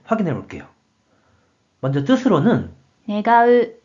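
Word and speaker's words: 願う: 그럼 이번에는 원할원에 대한 일본어 발음을 확인해 볼게요. 먼저 뜻으로는 願う、願う、 라고 있고 한편 음으로는 がん、がん、 이라고 발음해줘요.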